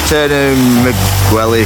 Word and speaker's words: Turnu Măgurele: So we're in Turnu Măgurele, to say it correctly.